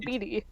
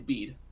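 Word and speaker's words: Bede: of that definitely betty how do you say it is it just beat or is it beatty it's bead ah there is a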